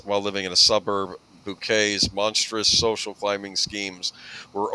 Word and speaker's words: Bucket: Uh she played the character of Hyasin Bouquet, as she pronounced it. Everyone else called her uh Mrs. Bucket.